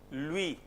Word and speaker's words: lui: U, E. How will you pronounce it? But it's very simple here actually. Lui, minuit.